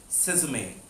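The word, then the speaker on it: sesame: तिल सेसमे, कुछ लोग इसको सिजाम भी कहते हैं, बट it's always better to call it with good pronunciation, सेसमे।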